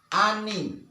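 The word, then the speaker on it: אֲנִי: Nah, contoh dari vokal hatep peteh ini misalnya ini alef, di bawahnya vokal hatep peteh, ini nun, ini hirek yot, maka dibaca ani.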